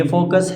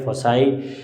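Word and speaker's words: foci: उसके बाद देखें आपके पास कंडीशन ये है स्टूडेंट्स, एक ये फोकस है और दूसरे साइड पे एफ प्राइम है, तो इनको दोनों को आप फोकी भी लोग प्रोनाउंस करते हैं, फोसाई भी प्रोनाउंस करते हैं।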